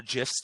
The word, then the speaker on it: GIF: So there's like, they made some GIFs or GIFs depending on if you want hard or soft G. It's a hard neutral. G. It's a GIF. Let's be clear.